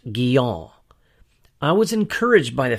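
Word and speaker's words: Guyon: of John Bunyan and Madame Gyo properly pronounced giel I was encouraged by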